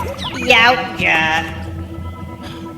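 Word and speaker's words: Yautja: It's pronounced Yaoja.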